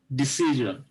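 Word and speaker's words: decision: তাহলে আমরা কি করলাম, ডিসিশন। তো এই সিআই এর উপরে কি হইলো, একটা স্ট্রেজ হবে, ঠিক আছে, এটা থাকলে তার আগের অংশটা স্ট্রেজ হবে এবং উচ্চারণ হবে জ।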